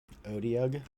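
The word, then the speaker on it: otyugh: looks kind of disgusting I don't even know how to pronounce it o t y u and g h an otuga or something like that I think odia says DND Beyond odiog yeah odiog okay is a uh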